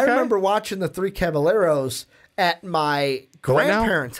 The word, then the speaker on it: Caballeros: The double L is pronounced as a Y.